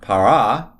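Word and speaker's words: פרה: if we have uh the word for cow para para normally a feminine word is going to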